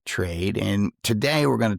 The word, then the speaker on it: Trayd: Now, it's not spelled the same way that you would spell Trade, but it's T R A Y D Trade.